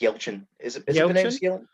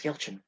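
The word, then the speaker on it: Yelchin: yeah i think it's yeltsin like i i i i i mean i could be wrong but i think it's yeltsin i just went the way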